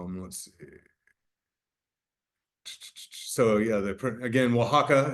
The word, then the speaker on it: Oaxaca: So yeah, again, Oaxaca is how you pronounce it.